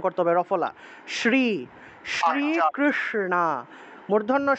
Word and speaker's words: কৃষ্ণ: রফলাটা স্পষ্ট উচ্চারণ করতে হবে রফলা শ্রী শ্রী কৃষ্ণ মূর্ধন উচ্চারণ হল জিউভা উল্টে স উচ্চারণ করতে হবে